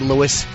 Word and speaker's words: Louis: and on the promo could they stop pronouncing it Louis it's not Louis I know they say Louis today really is Louis we can't get anything